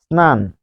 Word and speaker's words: স্নান: কিরকম, স্নান, স্নান, এটার উচ্চারণ কি হবে, এটির উচ্চারণ হবে ইংরেজি, ইংরেজি এস এর মতো, এস এর মতো, এস এর মতো হলে তো দন্ত স এর মতোই হবে, স্নান।